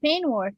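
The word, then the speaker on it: peignoir: that how it's pronounced it's pronounced pain War yes I am not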